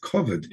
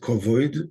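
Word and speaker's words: כבד: Koved is the same word as it's spelled the same way that koved is spelled, but without the vav. It's koved. It's not kovoid, but koved.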